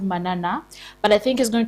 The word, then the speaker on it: Manana: an amazing amazing guest today um he's called Manana but I think he's going to talk more about himself have I pronounced it well manana is okay manana okay because I I need to know.